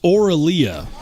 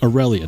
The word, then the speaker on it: Aurelia: did we get that it's the Aurelia not the Orelia de Lord I think